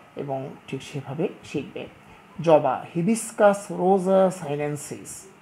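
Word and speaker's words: Hibiscus rosa-sinensis: পড়ে, এটি ঠিক না, বিজ্ঞানের ছাত্র হিসাবে সঠিক উচ্চারণ করা বাঞ্ছনীয়। তাহলে আমি বলছি তোমরা শুনবে এবং ঠিক সেভাবে শিখবে। জবা, হিবিসকাস রোজা সাইলেন্সিস, হিবিসকাস রোজা সাইলেন্সিস।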